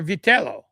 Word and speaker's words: Vitello: You say it's Vitello. It's Vitello. Or Vitello is really how you should pronounce it.